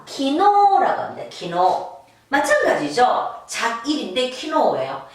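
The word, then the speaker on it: 昨日: 이 자길을 여러분 한자음으로 읽으면 이렇게 됩니다. 작, 사쿠, 일, 지츠 이렇게 읽어요. 그죠? 근데 일상생활에서 어제를 그렇게 쓰진 않죠. 그죠? 자, 이렇게 읽으시면 안 됩니다. 한자는 자길이라고 쓰지만 키노라고 해서 어제가 되겠습니다. 자, 어제 작자예요.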